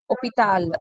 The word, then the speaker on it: hôpital: In French, H is not pronounced. As a starting letter, H is not pronounced. So the first letter H is silent.